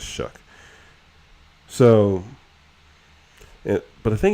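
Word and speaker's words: Shough: I thought it was show, but I guess it's Shuck.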